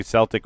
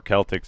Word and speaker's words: Celtic: Well, because of Boston, you can say Celtic or Celtic, so I didn't hear it, but I'll trust your Well, judgment.